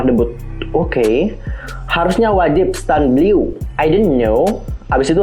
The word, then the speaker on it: Bleu: Bleu, bukan Blue ya, Bleu.